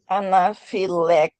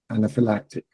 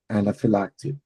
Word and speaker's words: anaphylactic: Anapilactic. Anaphylactic. Anaphylactic.